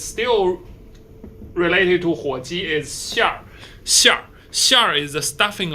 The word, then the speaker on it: 馅儿: Okay, and next is still related to 火鸡 is 馅儿. 馅儿. 馅儿 is the stuffing of 火鸡. So there are 2 syllables, it's 馅儿, but you combine them together in the parentheses. That's the actual pronunciation.